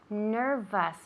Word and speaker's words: nervous: nervous okay very good nervous remember that even though it's an ous we pronounce it like us okay like okay no